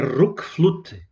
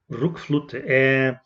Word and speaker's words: RökFlöte: Voltando para o disco aqui, o nome dele pelo que eu vi, a pronúncia é Rookflute. Rookflute.